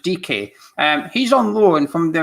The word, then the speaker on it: Dike: Here you go, Daryl Dike, or I think someone said he's pronounced Dike.